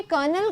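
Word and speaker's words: colonel: कर्नल, देखो ये कर्नल का स्पेलिंग है जो कई बार इसको हिंदी में हम लोग कर्नल बोलते हैं, राइट? कर्नल बोलते हैं, पर इंग्लिश में इसका स्पेलिंग ऐसे लिखा जाता है।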